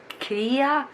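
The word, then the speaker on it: Krei: of her site is, I think it's pronounced Kia. It's K-R-E-I.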